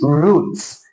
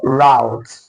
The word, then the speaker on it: route: All right, do you pronounce this word as roots or route? Let's look at the transcriptions. This word also has two pronunciations. The first one is the British and the second one is the American pronunciation.